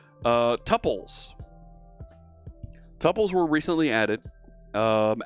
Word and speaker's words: tuple: a tuple which is you'll hear some folks refer to it as a tuple tuple topple looks like double so i use the same tuple the same u to pronounce it so a tuple can